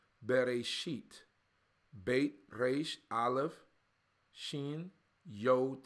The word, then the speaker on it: Bereshit: But in Hebrew, the book is called Bereshit. Bereshit.